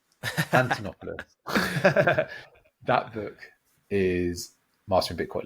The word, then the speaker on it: Antonopoulos: Antonopoulos. Antonopoulos.